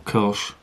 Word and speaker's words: Kölsch: to call your beer Kolsch or cosh as it's pronounced and shown it has